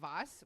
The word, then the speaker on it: was: He said vas which means what? Okay. Your German pronunciation I'm so sorry is really bad. Vas Vas are you thinking? Yeah, because the W's are V's and vice and vice versa.